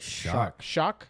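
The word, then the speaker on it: Shough: Tyler, how do you say his name? It's like Shuck.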